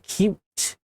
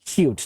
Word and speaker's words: Qt: PCman FM Qt. It is pronounced cute, not QT, I believe.